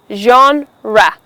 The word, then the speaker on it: genre: Now this word refers to a category of something like arts, literature, music, science, things like that, and it's pronounced as genre.